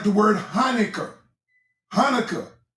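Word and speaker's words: Chanukah: Hanukkah is spelled with a C, but the C is not pronounced.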